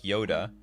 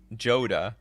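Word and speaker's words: Jodah: how i do it i believe joda is pronounced like yoda but everyone's i know says joda well you didn't really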